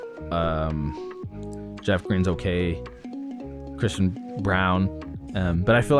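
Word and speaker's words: Braun: gotta improve their rookie Brown is um I know it's spelled like it's Brawn but it's brown uh he's actually looks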